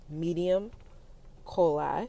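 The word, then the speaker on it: medium coeli: the midheaven or the medium coli i think that's how you pronounce it commonly referred to as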